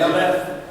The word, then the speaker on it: Aleph: When you look at that and you see Aleph, or Alph, how you pronounce that? Aleph.